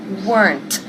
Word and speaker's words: weren't: Se pronuncia con una sílaba. My parents weren't.